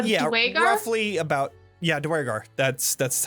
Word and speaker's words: duergar: roughly about, yeah, Duergar.